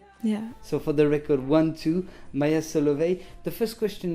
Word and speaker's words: I:II: it it's everywhere no we just say one and two yeah so for the record one two maya salovey the first